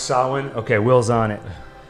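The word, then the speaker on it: Samhain: m h a so the m is pronounced like a w can you look up how do you spell uh the festival of i think it's saw main but it's pronounced solon okay will's on it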